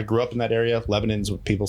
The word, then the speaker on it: Lebanon: Lebanon's what people say.